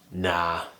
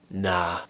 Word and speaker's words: nah: my personal favorite nah so what i'm doing here is just pronouncing the n and then i'm pushing my tongue forwards and down and doing an a sound but i'm making it a bit longer nah nah and it